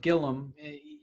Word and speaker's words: Gilliam: Okay, we've got Todd Gilliam. Todd, thanks so much for giving us some time. Absolutely. Happy to be here. Now, there's an I there, but you pronounce it Gilliam.